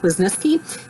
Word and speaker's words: Wisniewski: say her name right linda wisniewski was nisky it's a polish name i know that and linda is the